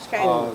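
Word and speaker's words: Schijndel: The 3rd Battalion went to, how is that pronounced? Schendel? Schendel.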